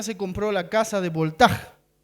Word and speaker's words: Voltaire: uno de ellos era se lee voltaire voltaire pero se pronuncia voltaj su apellido un filósofo